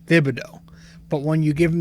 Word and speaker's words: Thibodeau: i finally figured it out so when you pronounce his entire name it is th it's thibido but when you give him the nickname it's